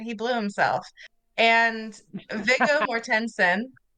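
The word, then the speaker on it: Mortensen: How is his name pronounced? Just like that. Mortensson. Oh, I think I mean Mortensson that would make more sense.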